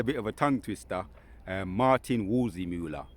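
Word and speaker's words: Martin Waldseemüller: Martin Wolzimula, right, the cartographer.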